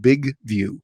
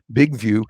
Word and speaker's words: BigVu: But often I'll use a tool called Big View. That's spelled BIGVU. Big View, which I have on both my Android device, and I also have an iPhone 11.